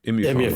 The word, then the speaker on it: Immupharma: Immupharma, even. Immupharma, that's how you say it.